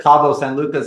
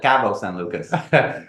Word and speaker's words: Cabo San Lucas: from Canada is so I call it Cabo San Lucas and he calls it cavos San Lucas that's right yeah okay